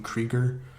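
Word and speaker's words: Kruger: Anyway, then Abigail Chase is the American-German woman, and the actress's name is Diane, I believe you pronounce her last name Krieger, because she is actually German in real life.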